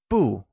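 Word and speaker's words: 不: The most common one is bu, which is pronounced with the following tone.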